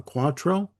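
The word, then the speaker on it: cuatro: uh great use of a of a guitar called a uh quattro. Uh it's spelled c u a t r o.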